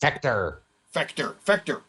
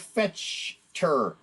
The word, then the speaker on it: Fechter: In fact, Fechter. Like, it's cool because it sounds like Vector or Spectre. It's spelled like Fetchter, and I keep saying Fetchter, and I don't. I gotta say Spectre, Vector, Aaron Fechter.